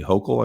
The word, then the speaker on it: Hochul: The governor, Kathy Hochul, I think is how you say her name,